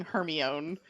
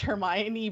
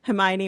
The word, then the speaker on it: Hermione: least the first four books I was saying her my own so I'm really pleased at least this time we get to like reestablish Hermione back into like the naming lexicon and be